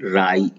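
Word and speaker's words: wry: दूसरा है राई, डब्ल्यू आर वाई को बोलते हैं राई, ऊपर लिखा है।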